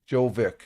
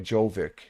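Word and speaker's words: Djokovic: The D is silent. Oh, Jo. Oh, okay. Jovic. Okay. Jovic.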